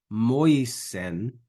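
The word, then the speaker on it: Moysen: All right, follow me here and check your own pronunciation. Verse 17, quia lex per moisen, that's a little tricky, moisen data est.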